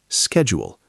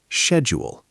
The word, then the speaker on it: schedule: Schedule, pronounced slowly, schedule, British, or schedule, American.